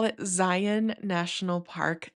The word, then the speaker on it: Zion: that's not from Utah, Zion is not how you say it, apparently. Um, when I first moved here, I was talking about Zion National Park, and my husband's aunt corrected me and said it's Zion like Lion.